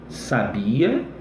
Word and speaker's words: sabia: Olha lá, ó. Sábia, sabia, sabiá. Então a acentuação, ela é fundamental para você entender um termo, entender a pronúncia e daí extrair o significado, tá bom?